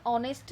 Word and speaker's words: honest: It may be noticed that the words are and honest, here begin with a vowel sound as the initial consonant H is not pronounced here.